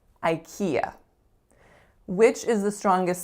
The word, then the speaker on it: IKEA: a three syllable word the first sound is I the second one is key and the third one is yeah IKEA IKEA which is the strongest syllable the second IKEA next up we have